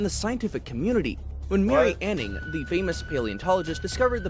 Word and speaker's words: Anning: Anig. Anning. Mary Anning. She's the godmother of paleontologies. Say her name right.